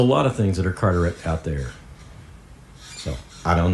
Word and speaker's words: Carteret: Carter E.T., which is pronounced Carteret, and it comes from Carteret County, North Carolina.